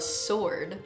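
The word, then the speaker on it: sord: together in the water is called a sword. But it's spelled S-O-R-D, not S-W-O-R-D, but still cool nonetheless.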